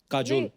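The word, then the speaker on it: Kajol: बड़ा यूनिक नाम है आपका, काजोल। काजल है ना, but काजल होता है, काजोल हाँ, but मतलब बंगाली में spelling है, काजल। बंगाली में ऐसे बंगाली में लिखते हैं। ऐसे उसका प्रोनाउंसिएशन ऐसा पर है।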